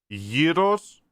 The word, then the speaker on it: gyros: It is gyros. You see the difference? Gyros. I know it sounds a little bit the same, but it's where you put the little thing on the top.